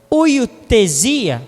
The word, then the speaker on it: huiothesia: dessa ministração hoje seria Hoiotasia. Hoiotasia, que é uma palavra grega. A pronúncia no português correto é oiotesia.